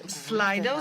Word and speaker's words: Slido: How should I pronounce this correctly? My children wouldn't help me at home. I wasn't sure whether it's Slido or Slido, but okay, so you told me that it's Slido, so you can use